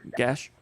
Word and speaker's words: Gash: It's Avery Gash. I always thought it was Gak, but I don't know. Gash.